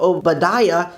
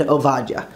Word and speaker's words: עבדיה: And instead of saying a funny sounding name like Zephaniah or Obadiah, you'll say Tzefania and Ovadia.